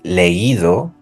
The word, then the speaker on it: leído: to the past participle, we have to add a tilde to the I. So we're going to say leído, oído, traído. We're going to write the tilde and we're going to stress that syllable.